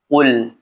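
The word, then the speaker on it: قُلْ: Maka cara membacanya qul ya qul bukan qul.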